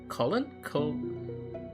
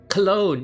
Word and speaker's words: cologne: A faint faint colon. What's cologne? Yes. I was like, how do you pronounce this word again?